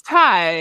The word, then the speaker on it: Tai: her name wrong somewhere is it Tia or Ty it's certain I'm sure it's time it's Ty yeah yeah okay so is